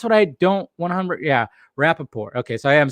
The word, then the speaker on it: Rapaport: I mean that's what I don't 100 yeah Rapaport okay so I am saying it right but